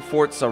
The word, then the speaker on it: Forza: someone said I'm pronouncing fortza wrong no I'm not I'm was like it's Forza no it isn't it's Italian word and it's pronounced Fort you know what I mean like pza but I guess Americans